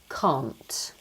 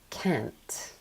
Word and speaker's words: can't: So if you look here in Britain, if you're saying the negative form of that word, we would say can't. Now, Americans don't pronounce it this way. Okay? So they would say can't. So they they use an ah a open a the same as the positive form of the word can.